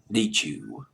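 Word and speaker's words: Nitzsche: arranged by Jack Nietzsche neat you jack neat you believe is how you pronounce his last night I've already talked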